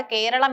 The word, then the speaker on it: കേരളം: നൂറ്റാണ്ടുകളായി മലയാള സാഹിത്യത്തിൽ ഈ നാട് കേരളം എന്ന് തന്നെയാണ് അറിയപ്പെടുന്നത്. പിന്നീട് എങ്ങനെയാണ് കേരളം കേരളയായത്. ഇതിനു പ്രധാന കാരണം കൊളോണിയൽ അധിനിവേശമാണ്. ഇംഗ്ലീഷുകാർക്ക് മലയാളത്തിലെ അം എന്ന ഉച്ചാരണം വഴങ്ങാത്തതിനാൽ അവർ തങ്ങളുടെ സൗകര്യത്തിനായി പേരിന്റെ അവസാനത്തെ അനുസ്വരം മാറ്റിയതാകാം. ട്രിവാൻഡ്രം തൃച്ചൂർ കാലിക്കറ്റ് തുടങ്ങിയ പേരുകൾ രൂപപ്പെട്ടതും ഇത്തരത്തിലാണ്.